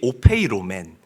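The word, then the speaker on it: ὀφείλομεν: 자, 여기서 보면 마땅하니라. 오페이로맨이라고 읽고 발음합니다. 당연하다. 거리낌이 없다라는 뜻을 가지고 있어요. 형제를 위해서 목숨을 버리는 것이 오페이로맨 당연하다.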